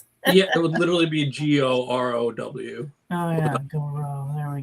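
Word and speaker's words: Gaurav: Goro, like Goro. Goro. Okay. like go row your boat.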